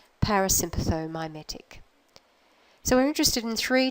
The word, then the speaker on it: parasympathomimetic: letters in that term a lot of syllables but I want you to break it down like this first of all the nervous system that's involved go all the way through to that syllable there parasympathetic at that nervous system they're mimicking it parasympathomimetic so we're interested in